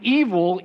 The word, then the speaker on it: Evel: He was born with the name Robert Craig Knievel, but later changed his name to Evel, E-V-E-L, which rhymes with Knievel.